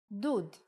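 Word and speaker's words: דּוּד: like uh for example if we take the same letters from David and instead of we add shrok it will be dud electric water heater perhaps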